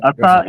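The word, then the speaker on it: את: Ata is the word that has no meaning, right? Ath. So Ata. It would be pronounced Ath.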